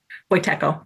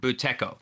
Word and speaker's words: Buteyko: and I was going to ask how to pronounce this, Pam, Buteyko? Buteyko. Buteyko.